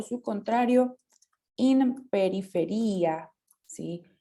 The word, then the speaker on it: periferia: o su contrario, in periferia, ¿sí? Y recuerden las palabras que terminan en ia con el acento en la i.